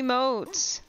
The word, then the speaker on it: emote: The accent goes over the E. It's emote. You say emote.